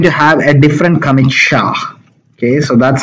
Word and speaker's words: SHA: project is going to have a different commit sha okay so that's how you pronounce it secure hashing algorithm but they'll skip